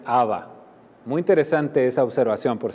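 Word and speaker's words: אבא: de estudios dice que esta palabra padre literalmente está escrita en arameo y se pronuncia a va muy interesante esa observación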